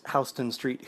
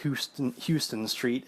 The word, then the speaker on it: Houston Street: I am that person who would pronounce Hston Street Houston Street if I came across it in print.